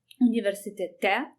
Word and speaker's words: universitete: And if you say you are at university, you change the as ending to e, universitete. You also change the stress position to the last syllable.